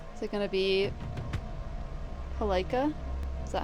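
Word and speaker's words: Palkia: Is it going to be palea?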